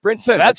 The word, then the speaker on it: Brinson: you go that's fair Brinston sounds better though no T just Brinson whatever you guys all